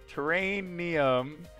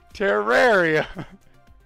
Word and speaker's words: terrarium: to say train wait the spellings what's different terrainium what do you mean characterium oh god terror terrorium rare terrarium oh lady cutler cracking up in the